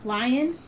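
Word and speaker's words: Lyon: And so, anyone else out there have a lion? It's uh the sculpt is spelled L Y O N.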